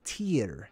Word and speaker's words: Tyr: a word search on tyrone it's not actually pronounced thai rhone okay we have kind of messed that up over time it's tier t-y-r now tier is what we named tuesday after